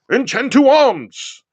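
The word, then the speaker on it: Enchanted Arms: a tactical style RPG, Enchantu Arms, because that's how they say it when you open up the game and you start the game out. Enchantu Arms was actually one of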